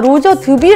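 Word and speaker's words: Roger Dubuis: 바르면 된다고 생각하시나 봐요 그래서 더 보고 아 로저드뷔 라고 꼭 가서 이거 뭐 유튜브 든 아니면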